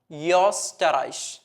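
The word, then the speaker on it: Österreich: പഠിക്കാൻ വേണ്ടിയിട്ട് പക്ഷേ അത് ഓ ഉം വരുന്ന സമയത്ത് എന്തായി യോസ്റ്ററൈഷ് യോ എന്നുള്ള ഒരു ശബ്ദം ഓക്കേ യോ എന്നുള്ള ഒരു ശബ്ദം കൊടുക്കുക ഒന്ന് സ്റ്റൈലിഷ് ആയിട്ട് ഉച്ചരിക്കുക യോസ്റ്ററൈഷ് ഇനി ഉ ഉം വരുന്ന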